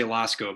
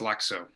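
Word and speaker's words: Lakso: that's correct l-a-k-s-o okay i know you want to say lasko but it's lexo i'll make a correction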